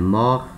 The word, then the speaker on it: mort: Repara, aqui no masculino, a letra T muda, né? Mor, mor. No feminino, a letra T passa a ter som. Mort, mort. Tá? Então, tem uma pequena diferença na pronúncia.